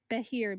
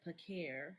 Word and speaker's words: Behir: How you spell it? Behir. Behir. Oh, I thought it was said Pakir.